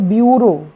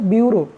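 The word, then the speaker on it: bureau: देखेंगे इसको अगर पढ़ेंगे तो इसका प्रोनंसिएशन या उच्चारण हो जाएगा ब्यूरो क्या हो जाएगा ब्यूरो तो डियर व्यूअर बढ़ते हैं नेक्स्ट सफिक्स की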